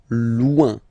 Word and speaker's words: loin: So remember when you get this combination O-I-N, it's ouin, ouin, ouin, okay? Loin.